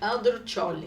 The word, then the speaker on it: Andrucioli: Mas para a gente introduzir aqui, para as pessoas primeiro conhecer a doutora Andruccioli, eu quero que ela fale a pronúncia. Fala para nós a pronúncia corretamente. Andruccioli.